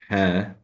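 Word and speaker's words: ح: So ha is not found in English, but we need to focus. It is like pronounce it from the middle part of the throat, saying ha. They call it actually the sound of fahih, the sound of the snake.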